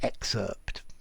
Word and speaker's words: excerpt: a very big effort and i think when you're listening it's very often too difficult to hear the difference between excerpt and excerpt yeah i'm very often the p just disappears okay but the pronunciation should be excerpt so anyway an excerpt